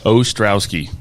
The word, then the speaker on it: Ostrowski: how do you say your last name Sean ostrowski okay I just want to make sure Sean